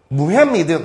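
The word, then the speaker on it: Mohammedan: or 그 다음에 무햄미든 이렇게 미국식 발음을 했을 때는요. 무햄미든 이런 식으로 발음을 해줘요. 그래서 무햄미든 nation.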